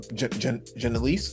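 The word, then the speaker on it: Janeese: Um Janise, is that her how you pronounce her name? Uh Janice Lewis George.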